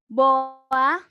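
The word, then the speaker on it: boğa: buat teman-teman yang ketinggalan kok g-nya nggak dibaca sih ini gadget opini atau ilmu sageh Ibu sifatnya halus itu adalah G yang enggak dibaca emang nggak dibaca jadi Boa bacanya Boa kayak nggak ada Kim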